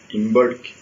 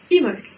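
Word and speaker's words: Imbolc: je fais un bolk, sinon imbolk. Et tu te serais trompé quand même. Ouais. Tout simplement parce que là aussi c'est gaélique et qu'en gaélique, le B, je l'oublie et on va prononcer imolk.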